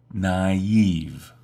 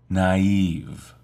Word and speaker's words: naive: the word innocent pay close attention to the pronunciation of this word naive naive she's a very naive person he's naive when